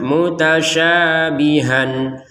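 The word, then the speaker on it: متشابها: Kalau kita berhenti, maka han ini dibaca ha panjang dua harakat. Mutasyabiha sya dengan ha sama-sama dua harakat karena berhenti.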